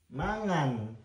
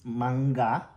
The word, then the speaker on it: mangga: do that one okay manga is different so ma is it's the the last I mean the first two is ma also. It's mangga.